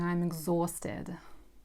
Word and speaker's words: exhausted: Also "h" is not pronounced and the "a" and "u" are pronounced in a French style, French reading style and as "or" - exhausted.